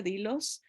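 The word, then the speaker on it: δειλός: verdad Esa palabra es la palabra de hilos o se pronuncia dilos que quiere decir los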